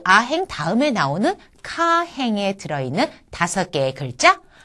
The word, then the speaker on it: か: 그래서 카라고 하는 것은 이 단어의 첫음으로 왔을 때는 카 하는 식의 우리나라 말의 카에 조금 비슷하게 발음을 하시고 첫음이 아닐 경우에는 까 하는 느낌으로 발음을 하시면 되겠습니다.